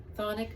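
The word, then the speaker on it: chthonic: And it's spelled C H T H O N I C, but it's pronounced thonic.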